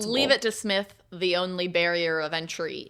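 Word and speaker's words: Psmith: On February 5th, we will discuss Leave It to Smith by PG Woodhouse. Yeah. Which is spelled P S M I T H.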